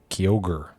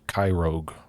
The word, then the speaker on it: Kyogre: even have a shiny kyogre i think that's how you say it i i always called it kai rogue for the longest time oh man shiny